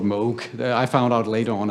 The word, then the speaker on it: Moog: Mo Bob Mo um many people pronounce it moo but uh he insisted that this should be called Moog I found out later